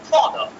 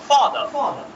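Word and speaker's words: father: আরটা উচ্চারণ করব না আমরা বলতে পারি ফাদারের উচ্চারণটা হবে কি ফাদার ফাদার ফাদার যেমন আমরা ফাদারের উচ্চারণটা তাহলে যেমন ফাদার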